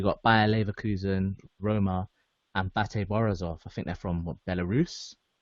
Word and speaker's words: BATE Borisov: Wait, is that how you pronounce it? Yeah, Bate Borisov.